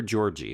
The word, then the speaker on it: Georg: Like a Kinder Georgie is what you're saying.